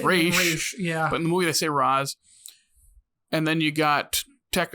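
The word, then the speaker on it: Ra's: raza ghoul it's funny they say roswell ghoul when i think it's pronounced race and then you got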